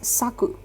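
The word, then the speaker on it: 昨: the last kanji so the saw part is your hint for how it has to be pronounced and it is saku you pronounce it as saku okay now let's have a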